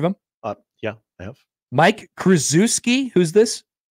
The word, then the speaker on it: Krzyzewski: Mike Krzyzewski. Who's this? I think you're hitting the emphasis on the wrong syllable. Krzyzewski.